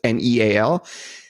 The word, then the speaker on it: Neal: I am the real Neal, so don't make the Starbucks barista fail and spell it like Kneal. It's Neal.